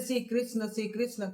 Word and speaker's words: कृष्ण: श्री द्रौपदी का नाम कृष्णा बहुत कोई श्री कृष्ण को मैंने मतलब गलत उच्चारण करते हैं श्री कृष्णा कृष्णा बोलते हैं लेकिन कृष्णा द्रौपदी का नाम है और द्रौपदी का नाम